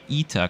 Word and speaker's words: ITA: it by the way ETA coming from Italia the Italian word for well Italy before flying for ITA